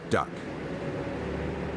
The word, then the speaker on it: DUKW: and W rear-wheel drive the best that the American GI could make of the unpronounceable D ukw was duck and that was the name that stuck this machine was like